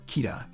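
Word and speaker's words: キラー: Bullet Bill's Japanese name is actually just Killer, or Kira, if you want to pronounce it like it's written.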